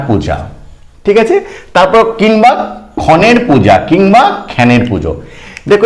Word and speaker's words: ক্ষণ: বোঝা গেল তারপর দেখো ক্ষণের পূজা ক্ষণ মানে কি ক্ষণ মানে কিন্তু কিন্তু সময় ঠিক আছে তাহলে সময়ের পুজো এই ক্ষণের আঞ্চলিক উচ্চারণ হচ্ছে খ্যান খ্যানের পূজো অঞ্চল বিশেষে